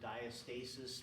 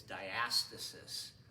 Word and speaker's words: diastasis: is called diastasis okay I used to pronounce it diastasis but I looked in the textbook and they say it's diastasis okay okay uh diastasis